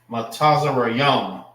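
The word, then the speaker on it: מצרים: Now, how you say their name in Hebrew? Matazarayam. So when you see that in the Hebrew, we know that they're talking about the Egyptians.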